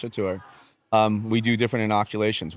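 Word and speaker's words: Catur: So for instance with with uh Mickey and and uh Chatur although it's spelled C A T U R it is pronounced Chatur um we do different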